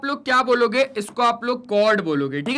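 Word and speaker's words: chord: आप इसे कॉर्ड कहेंगे। ठीक है? इसका उच्चारण " चोरेड" नहीं है।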